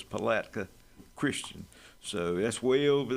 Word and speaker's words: Palatka: I heard that Big Jim couldn't pronounce that word yesterday. So, it's Palatka Christian.